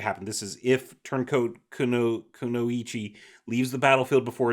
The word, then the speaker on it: Kunoichi: So if Turncoat Konichi leaves the battlefield before its ability resolves, If you, Kunoichi. what's that? I believe it's pronounced Kunoichi.